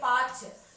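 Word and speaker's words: पाँच: Chand, పాంచ్. Okay, you for five na you can't say పాచ్, it is పాంచ్.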